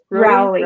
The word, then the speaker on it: Rowley: Rowley. Rowley?